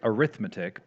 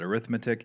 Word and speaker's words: arithmetic: It looks like arithmetic, but if you're using it as a noun, you pronounce it arithmetic.